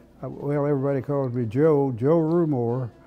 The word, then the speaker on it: Rumore: My name is, well, everybody calls me Joe Rumore, R-U-M-O-R-E. If it were pronounced correctly, it would be Rumore. It's an Italian name.